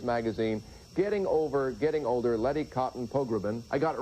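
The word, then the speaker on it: Letty Cottin Pogrebin: co-founder of Miz Magazine, Getting Over Getting Older, Lety Cotton Pogbin. I got it right, didn't I? Perfect. Well, you have too many syllables, by the way.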